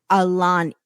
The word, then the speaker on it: Ailani: meet her 8-year-old daughter, Alani. It's spelled Ailani.